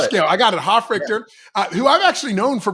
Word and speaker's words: Hofrichter: Hofrichter, who I've actually known for probably about 10 years because you were my Krav Maga instructor.